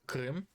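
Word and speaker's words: Крым: If you remember the accident with Krim, this little piece of land, being Russian myself, I can pronounce it the way that it's supposed to be pronounced.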